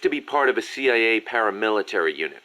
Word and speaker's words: CIA: Around here, they say La CIA instead of CIA, huh? Nothing strange about it. That's how it's pronounced when you read it in Spanish. It has the feminine noun ending a, so they use the article la.